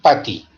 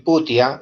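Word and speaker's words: putty: con el llamado el PATI, ¿no? No es el putia, es el PATI, porque el puti está en otra parte, es el PATI. pero se escribe puti.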